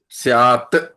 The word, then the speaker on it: स्यात: ये स्वाद स्याद सॉरी स्यात त का उच्चारण है लेकिन जब संधि होती है तो स्याद हो जाता है स्याद अस्ति स्यादवाद